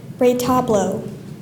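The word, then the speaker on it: retablo: now could you repeat the word please Rayo Ray toblo Rayo r e t a b l o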